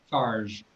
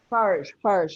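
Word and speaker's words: Farges: And I actually had to look up, is it pronounced Farg with a soft G or a hard G? Macon Farg. How do you pronounce it? Farge. Farge, a soft G.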